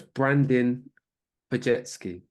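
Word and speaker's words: Brandin Podziemski: I've set you up to fail on that one because that last name is one of those European. Well, I assume it's European that doesn't actually pronounce how it looks. So it's Brandon Pajetsky.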